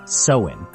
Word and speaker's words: Samhain: The origins of Halloween trace back to the Celtic festival of Samhain, pronounced Samhain, celebrated by the Celts in what is now Ireland, the United Kingdom, and parts of France.